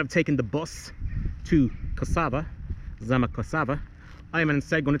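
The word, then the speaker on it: Косава: I finally arrived at Kosava. As some of the locals say, Kosova.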